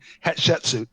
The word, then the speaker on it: Hatshepsut: maybe like the I don't know how to pronounce it. Maybe is it called Hatshepsut? The first mission is called Hatshepsut, right? Hatshepsut.